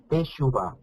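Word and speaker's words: תשובה: Teshuvah.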